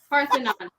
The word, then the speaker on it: Parthenon: Parthenon.